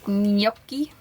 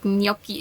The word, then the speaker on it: gnocchi: In the fridge today is gnocchi, if I said it right. Gnocchi? Gnocchi. I extra watched the video from an Italian person to learn how to pronounce it, and they say gnocchi.